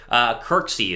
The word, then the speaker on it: Kirksey: I am all for Christian McKinney, or not Christian McKinney, Christian Kirksey is how you say his last name there out of the Browns.